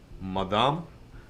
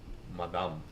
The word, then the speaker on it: madame: Madame. See. When the E is at the end, Okay. it's very rare that you will have it pronounced. Okay. And It will be a silent E.